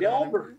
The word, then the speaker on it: Delbert: Dilbert. I always mispronounce his name, and he fucking goes ape shit. Delbert. I think it is Delbert.